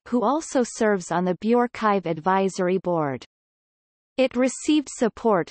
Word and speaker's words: bioRxiv: BioRxiv, pronounced BioRxiv, is an open-access preprint repository for the biological sciences co-founded by John Inglis and Richard Sever in November 2013.